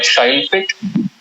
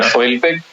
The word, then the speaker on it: Shailpik: My Hindi is not really good, but it should be something like Shailpik as opposed to the Bangla Shailpik, because slight differences in the way we pronounce Bangla.